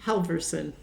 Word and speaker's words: Halverson: how do you say your last name again Halverson Halverson oh my goodness I don't know why